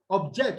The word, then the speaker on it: object: then you also have the word object object which is a verb and that will be stressed on the second syllable this word flower is